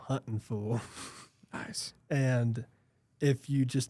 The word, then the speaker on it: Huntin' Fool: Yes, the full redneck pronunciation, not hunting fool, Huntin' Fool.